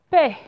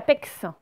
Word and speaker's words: paix: Alors, là, la paix. On ne dit pas la pex.